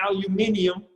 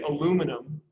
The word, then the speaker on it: aluminium: You know, it's harder to say aluminium, so they would just say aluminum, and to fit our bad pronunciation, we got rid of a letter. We got rid of the I after the N in aluminium. So if you go to any other English-speaking country, it's aluminium.